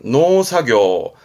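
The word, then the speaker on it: 農作業: 그래서 농작업 발음은 노사교, 작업 발음은 사교라서 시험 때 자주 보입니다.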